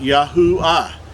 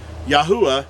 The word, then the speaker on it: YAHUAH: but being at the it's at the end of a word or a name it makes the ah sound so his name would be pronounced yahoo ah yahuwah is how we were pronounced the creator's name that's being translated into